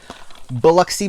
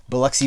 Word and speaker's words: Biloxi: Biloxi Blues, or Biloxi. I guess it's technically pronounced Biloxi, but living in the South, we just pronounce it Biloxi.